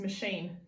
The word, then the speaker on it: machine: FF o n the next word is a machine same machine a tractor is a machine that